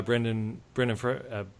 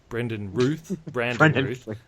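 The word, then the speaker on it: Brandon Routh: There's Adam, played by Brendan Ruth. Brandon Ruth. That's how you say it.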